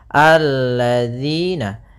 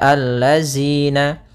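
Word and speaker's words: الَّذِينَ: kita baca di sini alladziina Kemudian pada lafal dzi di sini hati-hati dalam pelafalan Jangan dibaca alladina yang sering terjadi kesalahan adalah membacanyaal dengan Z kemudian di sini ada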